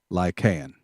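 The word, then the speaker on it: Lycaon: kind of name and i tried to look up how you say it lycan i guess that's it l-y-c-a-o-n and then uh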